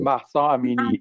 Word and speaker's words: Mahsa Amini: The young woman that Mahsa Amini.